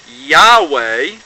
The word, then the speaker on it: Yahweh: It says, while it is almost, if not quite certain, that the name was originally pronounced Yahweh, and it says right there ain't no Yahuwah, Yehovah, God, or anything of that sort.